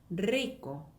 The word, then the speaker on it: rico: 이거 어떻게 있냐면 rico. 한번 더, 리코, 리코라고 하시면 돼요.